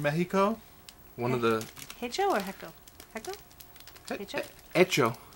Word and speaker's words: hecho: one of the hecho echo echo echo I think the H is silent HECO in Mexico yeah